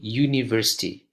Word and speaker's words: university: So the same goes to university. Although it starts with a U, but the pronunciation is as if you use the letter Y.